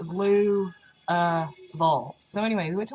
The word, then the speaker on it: Louisville: you're underwater and so it's not like that it's a blue uh evolved so anyway we went